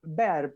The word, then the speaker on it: Bar: Bar, apellido que en realidad se pronuncia Ber, por lo que me enteré, porque tiene origen alemán. La familia, de todas maneras, lo argentinizó.